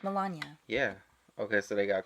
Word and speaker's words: Melania: well as his wife Melania. Melania? That's how you say it? Melania Trump. Melania. I thought it was Melania. It's Melania. Melania? How do you... It's not like N-A. It's N-I-A.